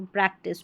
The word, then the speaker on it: practice: जैसे प्रैक्टिस है, TIC को टिस पढ़ा जाएगा, टाइस नहीं, तो प्रैक्टिस।